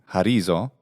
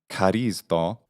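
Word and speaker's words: χαρίζω: But at least in this word, which means I do a favor, I oblige, in modern Greek pronunciation, charizo, and in the classical one, charizdo, we can see here,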